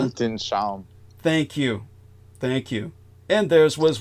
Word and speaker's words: Weltanschauung: Am I pronouncing that correctly in the German there, Brendan? Worldview? Whether I am or not. Weltanschauung.